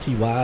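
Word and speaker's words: Tye: One is spelled T-Y, the other one T-Y-E, so I'm going to say they're both Ty.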